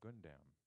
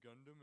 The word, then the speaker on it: Gundam: childhood toy is an anime robot called a good damn which I'm not familiar with Alice Juarez and actually it's pronounced the Gundam and actually the point thing is I kamala